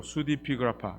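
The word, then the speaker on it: pseudepigrapha: 그 아파 좀 어렵죠 수 dp 그 라파 p 발음이 안 납니다 수 dp 그래프 이게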